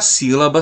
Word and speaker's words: sílaba: E para finalizar as regrinhas quanto à classificação da tonicidade, nós temos a palavra sílaba. A sílaba tônica é a antepenúltima sílaba da palavra.